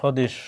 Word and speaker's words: স্বদেশ: কি উচ্চারণ করি, জ্বর, স্বদেশ, স্বদেশ। আমরা কি স্বদেশ উচ্চারণ করি বা জবর উচ্চারণ করি না, উচ্চারণ করি কি জ্বর, স্বদেশ, ধ্বনি, এরকম।